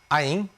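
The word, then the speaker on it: anh: 누나 다 이렇게 단어가 틀리지만 베트남은이 남자는 나이가면 아잉으로 다 통일되고 또 면 찌 그건 나중에 배우겠지만 찌찌는 이제 언니 남자가 부르면 누나 이렇게 되는 겁니다 자 여기서 아잉 보통 우리가 어 성적 공부를 안 안 했던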